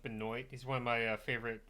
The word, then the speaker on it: Benoit: Benoit yeah it's pronounced it's uh spelled Benoit but pronounced Benoit he's one of my